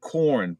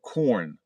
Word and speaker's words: Quorn: mm, mm, And then there's another one here called corn, but they spell it QUORN, corn, right?